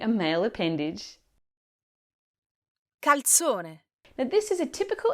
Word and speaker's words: calzone: calzone, Now this is a typical Italian folded pizza, but make sure you pronounce the L, otherwise it sounds like you're saying something completely different.